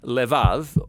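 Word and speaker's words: לבב: in this prayer heart which in Hebrew is sometimes pronounced lev or more often in a shorter form lev now different cultures throughout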